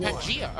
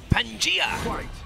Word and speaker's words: Pangaea: It's pronounced Pangaea. Okay. Pangaea.